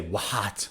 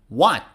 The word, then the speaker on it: what: many words for example the question word what what so we don't say what no it's h is not pronounced what what are you talking